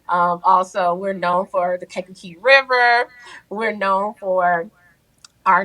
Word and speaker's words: Kankakee: Yeah, so again, born and raised in Kankakee, Illinois. I know you all are like, how do you spell that? How do you pronounce it? Well, repeat after me, Kankakee.